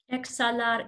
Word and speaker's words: exhalar: Exhalar, inhalar. And I love how Diane pronounced those. She didn't pronounce the H. Because remember that the H is silent.